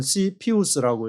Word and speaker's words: CFIUS: 그러면서 또 하나 언급하는 것이 CFIUS, 이것을 이제 읽을 때는 CPUS라고 읽는데, C는 이제 커미터 위원회고, FI는 Foreign Investment,